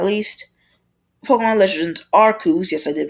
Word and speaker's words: Arceus: You're not great, but and next up, finally, last but not least, Pokemon Legends Arceus. Yes, I did pronounce that correctly.